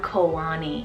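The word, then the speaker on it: Koani: sound very similar so we have kohani or kawani so k-o-h-a-n-i or k-o-a-n-i both of those are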